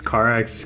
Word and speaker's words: Karax: I'll introduce myself as Karax. Has it been Karax this entire time? I've just been saying it wrong. It's Carax.